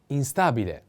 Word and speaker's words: instabile: a cloudy next one instabile instability instability the accent is on a instability in this case